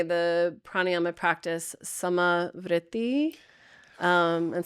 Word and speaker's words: samavritti: I often say the pranayyama practice samai. Um and so s's you know like same or uh you put a little roll on it.